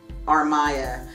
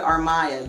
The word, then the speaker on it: Armaya: This is her name, Armaya. And she's like, oh, Mariah. She's like, Armaya. You got to learn to say it right. You got to make the teacher say it right.